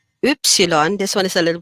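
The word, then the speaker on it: Ypsilon: a v and an e together v x oopsilon this one is a little bit more difficult to pronounce oopsilon and set okay so i'll say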